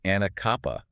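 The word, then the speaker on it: Anacapa: That's Anakappa. I saw that pronunciation note. I would have definitely botched that one.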